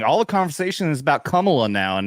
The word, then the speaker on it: Kamala: Okay, so it's not, dude, Kamala, like camel toe. It is Kamala, like communist. Like comma.